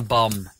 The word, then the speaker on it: bomb: The Tsar Bomb. Or as people like to call it, the Tsar Bomba. No, it's just a bomb. Don't pronounce the B on the end.